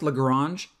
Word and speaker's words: Lagrange: the lagrange error i keep saying lagrange it's pronounced lagrange but my middle name is legrand and so